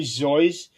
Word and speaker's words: Seuss: But for people who ask him, he would initially say that is actually Zoyce, but he came to accepting both pronunciations, and over time, that's how it became accepted.